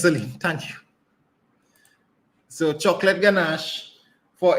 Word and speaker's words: ganache: What's Celine, you want to help me pronounce this word? Or? It's chocolate ganache.